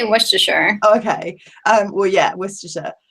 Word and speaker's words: Worcestershire: how do you say it Maggie I say wer okay um well yeah wierer um I I've